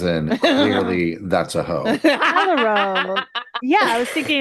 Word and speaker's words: Callirhoe: Calliope is Calero. It was what I had looked up. Oh, Calero. Mhm. Okay, because I was calling it Calero. Ho, as in clearly that's a hoe. Calero.